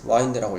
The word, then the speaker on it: wind: 별자리 별자리음 너는 wind time back more than 600 years wind가 어 동사로는 이제 와인드라고 읽고 동사로는 여기서 거슬로 올라가다 거슬로 올라가다 와인드 와인드백 와인드백이음 거슬로 올라간다 아 600 600년 이상을 거 올라간다.